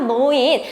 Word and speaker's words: 노인: 차이가 나냐 아 아시잖아요 로동 아니고 노동 로인 아니고 노인 자 그렇게 발음하는 건데 그 조항이 몇 번에